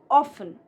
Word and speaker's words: often: The more traditional pronunciation is often. Often.